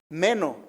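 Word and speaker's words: μένω: base se se tradujo del griego meno con acento en la e y quiere decir quedarse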